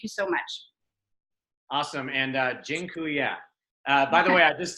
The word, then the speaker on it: dziękuję: And dziękuję. By the way, I just taught you all a Polish word for thank you. It's dziękuję.